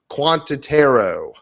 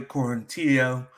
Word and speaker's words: Quarantillo: pronunciations on this one i've got shane bureau's versus billy quantitaro it's a shane burgos and billy quarantillo court yep billy q